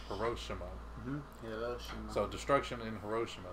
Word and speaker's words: Hiroshima: Because we normally pronounce it Hiroshima, but they were calling it Hiroshima.